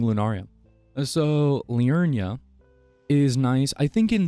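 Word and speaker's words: Liurnia: I'm saying it wrong it's l i u r n i a Leia I just want to say lunaria it's not lunaria at all but that's sounds way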